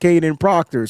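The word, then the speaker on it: Kadyn Proctor: So, let me get it right cuz he has a weird spelling of the of where the letters go in the name. weird spelling of where the letters go in the name, but it's still pronounced Kaden Proctor.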